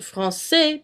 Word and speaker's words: français: For example, in the word French, français, you pronounce it français because there is la cdelle. If there wasn't, it would be le français. It'd sound like a K instead of an S.